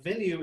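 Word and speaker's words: VNUE: of a company that i assume is pronounced venue but it's v-n-u-e so uh i figured i'm just filling in the e and uh it's not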